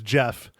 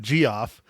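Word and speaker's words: Geoff: said that okay yeah it's Jeff g e o f f it's Jeff not g off oh Mike oh oh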